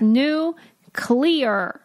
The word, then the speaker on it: nuclear: It's new, clear. Clear, clear. That's nuclear.